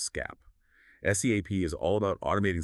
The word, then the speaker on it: SCAP: These come from NIST's Security Content Automation Protocol, or SCAP, pronounced SCAP.